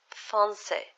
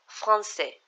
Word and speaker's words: français: Another word with cédille is français, français, français, which means French. Notice how we put the cédille, when we put the cédille here, we pronounce, we give the letter the S sound.